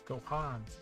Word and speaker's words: Gohan: It's like, it's pronounced with an A though. It's Gohan.